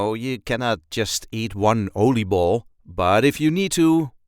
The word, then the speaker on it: oliebol: So this is the plural version of the word because, you cannot just eat one oliebol, but if you need to, Oliebol is the singular version of it.